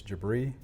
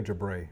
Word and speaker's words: Jebreh: And if you are to say my first name, it is Jebreh, but to the athletes, it's Coach. Okay. Just make sure we say my name correctly. But Jebreh or Jebreh is actually fine.